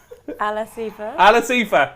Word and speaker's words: Al Asifa: How do you pronounce Al Asamat? So tell me this. Final question. Would you be more surprised if Al Asifa? Alasifa. See, that's what you do. Alasifa.